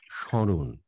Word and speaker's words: স্মরণ: কিন্তু প্রমিত উচ্চারণে এই উচ্চারণটি যদি আমাকে সঠিকভাবে করতে হয় তাহলে করতে হবে স্মরণ, অর্থাৎ সামান্য নাসিক্য ধ্বনি প্রভাবিত হবে।